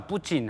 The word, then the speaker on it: 푸틴: 러시아인데 러시아 뿌친 하는 말이 여기 예. 푸틴이 아닙니까? 근데 북한에서 발음은 뿌친 대통령이고 네.